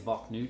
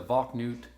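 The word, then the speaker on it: Valknut: wrong with that it it's spelled like bach nut i think it's valk nude if i'm wrong with that let me know below if i'm butchering that these are the vac newt uh duo rings um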